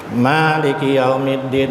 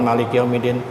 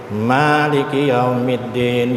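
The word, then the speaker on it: مالك يوم الدين: Cara membacanya gimana? Ya tadi itu 2 harakat. Ya. Maliki yaumiddin, bukan maliki yaumiddin, maliki yaumiddin.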